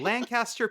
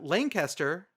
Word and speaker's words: Lancaster: So spinning it, and we are at the number 41, the Pickle Bowl in Lancaster, PA. Is that how you pronounce it, Lancaster?